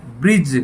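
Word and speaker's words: bridge: मैं यहां पर डी साइलेंट है ब्रिज बोला जाएगा ब्रिज और यहां पर डी की आवाज नहीं आ रही है तो बैठ जाता है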